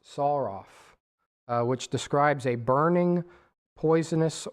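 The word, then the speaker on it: שָׂרָף: The Strong's has this as it comes from, and my screen time's out, it comes from the word seraph, actually pronounced saraf, which describes a burning, poisonous, or fiery serpent.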